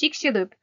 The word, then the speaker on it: Chicxulub: I'm sorry, my pronunciation is bad. It's Chicxulub.